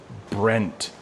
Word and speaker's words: Brent: I don't know how to say his name, but what I've noticed too, a lot of people in India have trouble saying my name, Brent. The R is hard.